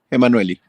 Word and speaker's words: Enmanuelli: ¿Cómo se pronuncia exactamente? Emanueli.